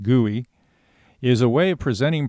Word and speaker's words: GUI: a graphical user interface GUI pronounced guey is a way of